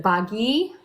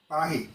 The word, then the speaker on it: Bhaji: It was a hard G, not a soft G.